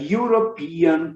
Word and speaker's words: European: You igual em you, você, ok? Russia is a European country. Às vezes eu exagero na country. Às vezes eu exagero, gente, na pronúncia. Eu falo you, mas é you, ok?